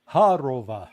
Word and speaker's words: Zakharova: So he is saying in words, and I remember hearing the foreign ministry spokeswoman, I can't pronounce her name, Zarakova, whatever. Khodorova. Yeah. Zakharova.